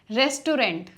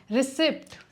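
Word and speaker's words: receipt: Wrongly pronounced English words की correct pronunciation सीखते हैं। इस वीडियो को सेव कर लेना। Restaurant, restaurant, रिसिप्ट, रिसीट, वेडनेसडे, वेंसडे, coupon, coupon, genre, genre, debris, डब्री, iron.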